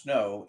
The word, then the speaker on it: SNO: It's typically pronounced snow in the book.